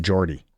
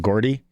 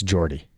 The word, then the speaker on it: Jordy: his name was, um, his name's pronounced Jordy McDougall. So, sorry, I called him Gordy. Uh, it's Jordy.